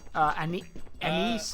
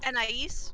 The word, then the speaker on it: Anais: Anise. How do you say her name? Anise? Yeah, Anise, I think. Anais? Yeah, Anais. How she says it.